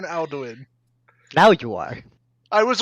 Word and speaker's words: Alduin: ] dragon from skyrim mate well that's how it's spelled it l doing not al doing alduin yes i'm saying i'll do it i know